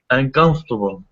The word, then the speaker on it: uncomfortable: can be uncomfortable uncomfortable uncomfortable good so it's not comfortable four syllables it's three syllables uncomfortable yeah uncomfortable yes